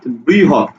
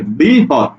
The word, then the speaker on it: বৃহৎ: যে বাণী হয়ে গেল খন্ড ত খন্ড ত থাকলে আমরা তহ শব্দ দিব যেমন একটা শব্দ লিখলাম বৃহৎ দেখো তো বৃহ হত হত হত বৃহৎ ঠিক আছে বৃহৎ তাহলে ত খন্ডত মানে ত